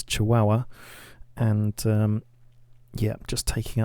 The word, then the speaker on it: Chihuahua: been told the correct way to say it's chihuahua and um yeah just taking out the capital